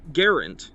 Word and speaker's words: Garand: And then lastly, in terms of new stuff thrown in here, we have a new type of optic for the Garand. Yay, I remembered to pronounce it correctly.